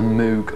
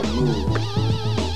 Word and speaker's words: Moog: Nearly every record contained a sentence explaining how Moog, which is supposed to rhyme with vogue or rogue, is actually pronounced.